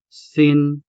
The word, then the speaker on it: sin-o: Note the sharp pause between the two syllables, sin, and the standalone syllable, o, sin-o. If you don't pause between these two syllables here, it ends up sounding like sino, which is actually just the Tagalog version of who. Sin-o is Hiligaynon and sino is Tagalog. So when asking about people with Ilonggo friends, stick to sin-o.